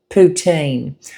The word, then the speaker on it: poutine: have, and it's called poutine, or I've heard it's the correct pronunciation is poutine.